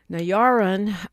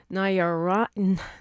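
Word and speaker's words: Narayanan: Hour two, we will hear from attorney Madhavi Nayaran, who is a civil rights attorney, and she'll share, I said it wrong, it's Nayaranan, who is a civil rights,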